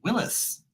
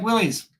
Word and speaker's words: Willys: You think I would know, but the correct pronunciation is actually Willis. But, we like Willys.